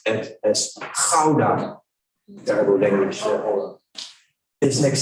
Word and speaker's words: Gouda: You know, this is Alkmaar, which is a little city near Amsterdam, but Holland is famous for Gouda cheese, and we pronounce it as Gouda.